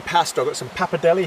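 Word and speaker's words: pappardelle: So, I've got some papadelli here or papadelli. You meant to really pronounce the de.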